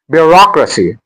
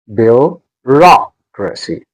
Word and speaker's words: bureaucracy: Bureaucracy. R. Bureaucracy. Bureaucracy.